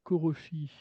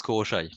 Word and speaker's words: Koroshy: en compagnie du groupe Koroshi. Bonjour. Alors bonjour. Ça se prononce Koroshai, si on Ah, chipote un peu. Alors, Koroshai.